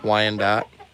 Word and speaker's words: Wyandotte: Yeah, it's not quite how you spell it, but yeah, Wyandotte.